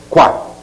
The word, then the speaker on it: coa: então o verbo coa verbo coa leva acento por causa da contração de com mais a que se pronuncia qua Esses são os nossos